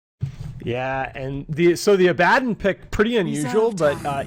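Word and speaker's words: Abaddon: the few examples Uh the hero does actually say his own name in the game and it is pronounced Abaden So you know if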